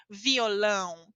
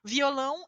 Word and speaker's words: violão: de exemplo é violão Vejam a pronúncia da nasal aqui certo como profissão violão violão é o que você